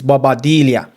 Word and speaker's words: Balbuena: um properly, Yeah, let me get his name pronounced properly for you guys. Um, his name is Balbuena. Yeah, Balbuena you know, scored that own goal.